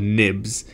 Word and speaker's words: XIB: XIV's which are called nibs I'm not sure why they're pronounced nibs it kind of bothers me that it's an X and it's pronounced as an N but let's let's stick